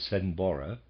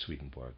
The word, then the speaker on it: Swedenborg: Swedenborg, readers aside, I understand that the pronunciation of this is somewhat to the effect of Swedenborg, but I am just pronouncing it using the regular English Swedenborg, end of readers aside.